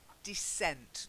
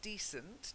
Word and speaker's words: descent: And then descent, not decent. To be decent, to be a good person, a decent person.